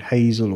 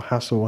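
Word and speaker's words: HASELL: This is called Hazel or Hassel, however you want to pronounce it. So we've got H-A-S-E-L-L.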